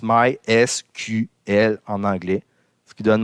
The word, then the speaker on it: MySQL: Puis officiellement, MySQL, on le prononce MySQL en anglais, ce qui donne MySQL dans la phonétique française.